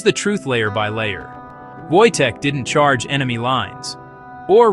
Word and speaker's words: Wojtek: His name was Wojtek, pronounced Wojtek.